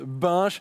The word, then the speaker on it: Binche: Il faut que tu le prononces bien. Oui, à Binche. Parce que hier, faut dire que j'ai fait une blague parce que ici à Paris, pour dire on prend une bière, on prend une binge et puis voilà, Nos amis belges ont cru que tu prononçais saccagé le nom de leur ville. Ce qui est normal après tout, mais effectivement ça se prononce Binche.